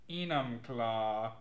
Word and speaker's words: Enumclaw: It's called Enumclaw.